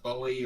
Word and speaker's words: Bowie: a cougar with his bowie knife and was depending on where you're from I think is a fake on determines how it's pronounced I heard pronounced bully or Bowie its isn't David Bowie